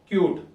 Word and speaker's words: cute: at some new examples cut you put an e and u suddenly tells its name cute u see so this